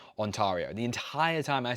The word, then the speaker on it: Ontario: Like I thought it was Ontario. Not even it didn't even cross my mind it might not be pronounced Ontario.